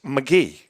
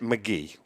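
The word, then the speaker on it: Magee: it and everybody it's mcgee that's the way sherry pronounced it that's interesting because mcgee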